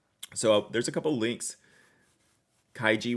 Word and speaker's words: Kaigi: there's a couple links kaiji with a hard G like in girl didn't I say is